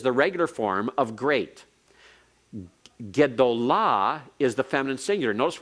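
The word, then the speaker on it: גְּדוֹלָה: to a great woman, takes the accent all the way to the end.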